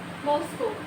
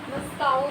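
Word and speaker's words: Moscow: हां जी कहां है मॉस्को मॉस्काऊ नहीं या मॉस्काऊ नहीं ठीक है पहली चीज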